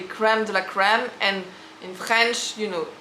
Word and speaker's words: crème de la crème: Because they don't know how we don't pronounce the R in the same way actually. Okay, in America it's gonna be crème de la crème, and in French, crème de la crème.